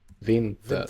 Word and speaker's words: vinter: vinter Vinter.